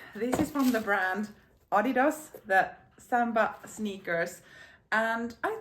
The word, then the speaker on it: Adidas: far as I've understood as this is a German brand you say it Adidas and in Finnish I would call it Adidas but for some reason